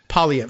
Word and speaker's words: Poilievre: and neither is Pierre how do you say his name the simplest way for an P PV so for us we'll be saying Pierre PV uh a because that's what he's given us permission to do but there's